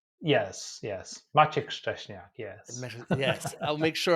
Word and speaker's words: Maciek Szczesniak: Did I pronounce that correctly? Yes, yes. Maciek Szczesniak, yes.